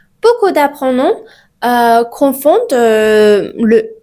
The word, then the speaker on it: le: Par exemple, on dit le. Ce n'est pas les. Ok?